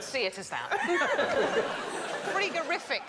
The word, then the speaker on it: frigorific: Should pronounce it frigorific, probably.